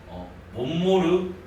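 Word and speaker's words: Montmort: 불러요 아니면 예외 또 발견한 사람의 이름을 따가지고 몸무르 순열이라고도 불러요 근데 이제 몸무게 또 약간 좀 유럽도 발음이라서 또 미국인들은이 사람을 공모르트라고도 부르기도 해요 아무거나 같은 사람이 꼭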